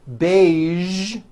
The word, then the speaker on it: beige: television very good now there are only a few words that have the voiced z sound at the end a few of these words are the color beige the word massage and the word pre